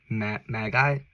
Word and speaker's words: Magi: And that was King Herod talking to his Magi, that's how you say it.